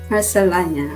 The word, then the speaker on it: Marcellana: So, Miss Marcellana. Thank you. Thank you Did I for pronounce it having me.